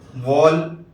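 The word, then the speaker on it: wall: چاہیے تھا وال، لیکن اس کا تلفظ ہلکا سا منہ گول کر کے کریں گے، بالکل وال منہ کھول کے نہیں کہیں گے بلکہ وال منہ گول کر کے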